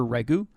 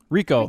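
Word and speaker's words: Riko: I keep wanting to call her Regu, but no. Rico.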